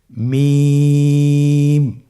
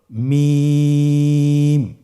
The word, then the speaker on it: মিম: মিম হরফটি উচ্চারণের ক্ষেত্রে অবশ্যই বারিক হবে, পাতলা হবে এবং 3 আলিফ টেনে উচ্চারণ করতে হবে। আমার সাথে আরেকবার চেষ্টা করুন। মিম। আবার বলুন মিম।